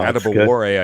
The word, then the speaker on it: Adebawore: Oh, Adebawore, I know, is the right pronunciation on that last name.